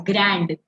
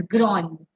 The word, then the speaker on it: grand: it's if you see in English it is pronounced as grand but here it is grown please pay attention to